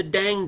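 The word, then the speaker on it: Tang: Dynasty which is the dang Dynasty now notice T is pronounced d at the beginning of words um D daong is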